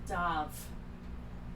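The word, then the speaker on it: Damh: You see her not even flinch to Dav, the Fae god. So Dav is pronounced Dav, but it's spelled D-A-M-H for any players that may know. So yeah, that would be from the Gaelic spelling.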